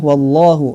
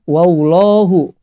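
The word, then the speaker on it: الله: Coba perhatikan label jalalah llahu yah ini dibacanya harus tebal ya karena sebelumnya berharokat pot Hah jadi jangan juga membacanya wow lohu wow lohu yaitu menambah huruf wow ya tidak boleh karena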